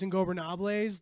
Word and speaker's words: Ingobernable: Yeah, just think of like ungovernable, ingobernable. Ingobernable. Yeah, like things There like we go. Gober, like Gober. Ingobernable.